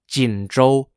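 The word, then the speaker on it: Jinzhou: Northeast which were the cities of Shenyang s-h-e-n-y-a-n-g jindrol j-i-n-z-h-o-u and Chong Chun c-h-a-n-g-c-h-u-n the Chinese Communist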